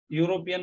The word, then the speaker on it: European: you up Europe and it is actually starting with the sound y it is a consonant that's why here this